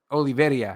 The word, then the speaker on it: Oliveira: Give me the real pronunciation, because I just say Oliveira. Oliveira.